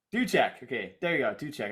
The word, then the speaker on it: Duczek: Duczek. Duczek.